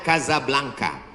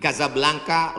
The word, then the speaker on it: Casablanca: kuliah nama negaranya Maroko ibukotanya tulisannya Casablanca cara bacanya Kadzab langka Kaza artinya rumah Blanca artinya putih Kasablanka rumah warna putih bahasa